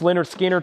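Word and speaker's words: Lynyrd Skynyrd: Pronounced Leonard Skinner, $38.99.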